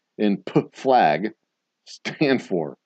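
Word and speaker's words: PFLAG: What does the P in P flag stand for? That's how it's pronounced.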